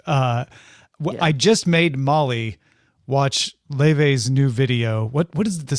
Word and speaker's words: Laufey: And by the way, reminder, that's how you pronounce that. Laufey. So you've like probably seen this word go by. You've probably heard me say Lofty. Right. Multiple times. I would have said Luffy every single time.